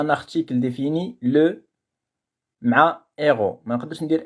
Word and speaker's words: héros: ما نقدرش نقول set héros واخا عندي H في البداية ديال الكلمة héros كندير ce héros لأنها ما كتقبلش la liaison. ما نقدرش نقول set héros ولا les héros.